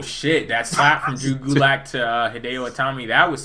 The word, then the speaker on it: Gulak: what's his how you pronounce his last name? Drew Gulak. Drew Gulak.